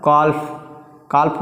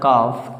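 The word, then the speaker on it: calf: और काल्फ पढ़ा नहीं जाता, इसको पढ़ा जाता है काफ, क्योंकि इसमें एल साइलेंट होता है।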